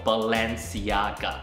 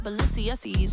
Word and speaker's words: Balenciaga: 叫做 Balenciaga。